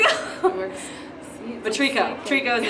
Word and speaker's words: Treco: Treco. Treco. Like tree company. It's like a tree frog.